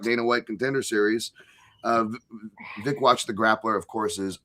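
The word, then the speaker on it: Wikłacz: Uh Vickwatch. It's like it's like dickwatch with a V. Vicwatch apparently is how you pronounce it.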